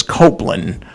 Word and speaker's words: Copland: By the way, Robert's last name is Copeland, for the record, but it's spelled like Copland.